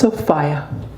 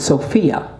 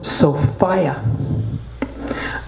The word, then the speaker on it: Sophia: it came this story my name is the princess sopia oh some pronounce it Sophia but I prefer sopia I am very proud